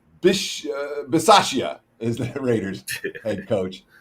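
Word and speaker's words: Bisaccia: for telling me how to say it right bish basashia is the raiders head coach uh and of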